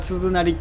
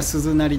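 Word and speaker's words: 鈴なり: I often say tsuzunari(means in a row), but "suzunari" is correct pronunciation, not tsuzunari.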